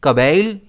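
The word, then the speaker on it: cabal: इस वर्ड को हम कैसे प्रोनाउंस करते हैं? कबल या फिर कबाल। इन दोनों में स्ट्रेस बी पर रहता है।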